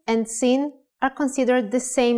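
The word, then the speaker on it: שׂין: the upper right side if the dot in Shin is on the upper left side it is called sin with a sound of s remember let only could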